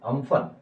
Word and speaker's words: Amphan: जैसे एग्जाम्पल लिख लो, इस साल एक साइक्लोन आया, just read about it, cyclone name was अम्फन, इट हैज its an, Amphan, and we will pronounce it as U, Amphan।